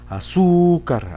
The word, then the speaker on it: azúcar: Vamos a ver si en la azúcar, azúcar, azúcar, azúcar, no, en la sílaba su, azúcar, azúcar, sí, allí sí se acentúa.